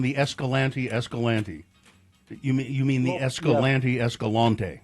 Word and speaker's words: Escalante: But they actually down there pronounce it Escalante.